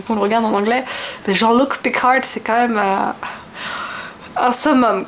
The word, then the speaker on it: Jean-Luc Picard: s'appelle Jean-Luc Picard mais ils sont incapables de prononcer Jean-Luc Picard donc à longueur de temps c'est jean-lucard parce que je regarde